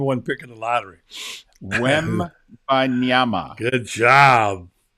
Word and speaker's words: Wembanyama: So, the question is, can you pronounce the name of the number one pick in the lottery? Wembanyama.